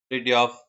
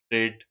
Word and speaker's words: Fridtjof: So this is Fridtjof Nansen, okay. Pronunciation is different. Fridtjof is Norwegian pronunciation.